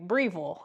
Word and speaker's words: Breville: Breville, I believe that's how you say it.